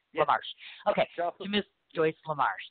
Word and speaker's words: LaMarche: Do you know how it's pronounced? Yes. LaMarche.